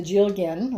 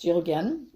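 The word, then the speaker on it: dealgan: these in stock, and it's called a Jilgin, but the first letter is D. So you'll see Jilgin in the website, but it's actually pronounced Jilgin or something like that. I'm not sure my Gaelic pronunciation is right on.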